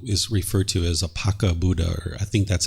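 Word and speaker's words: Paccekabuddha: way that I I I think it's pronounced as pakia Buddha and what this is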